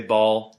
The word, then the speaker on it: Baal: B-A-A-L. I say Baal. Apparently it's pronounced Baal.